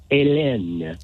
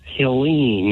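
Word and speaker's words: Helene: me go on pronunciation you have been calling our hurricane elen elen yeah and nobody pronounces it that way it's Helen and we've been saying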